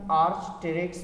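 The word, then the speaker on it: Archaeopteryx: Arch P silent आहे, आर्चटेरिक्स पढ़बो आहे, आर्चटेरिक्स पढ़बो आहे, माना एंशियंट बर्ड जो नालो ॾींदा आहियूं।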